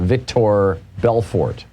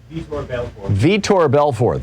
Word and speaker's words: Vitor Belfort: between evander holyfield and victor belfort i may be mispronouncing that i don't follow boxing but uh say say that again vitor belfort thank you nate um